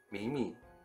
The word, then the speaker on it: 羋羋: 我来看看，这名字念作米米，米米的米，这叫谁知道啊？